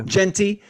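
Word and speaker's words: Jeanty: say it right cozy I think jent yeah Genty uh running back from Boise State get these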